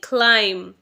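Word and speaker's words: climb: next वड इज क्लाइम अब बहुत से लोग इसे भी गलत प्रोनाउंस करते हैं आप इसे बोलते हैं क्लाइम यह क्लाइम नहीं है बी से यह एंड नहीं होगा बी यहां पर साइलेंट होगा तो हम इसे प्रोनाउंस करेंगे क्लाइम म पे खत्म करना है ओके क्लाइम क्लाइम का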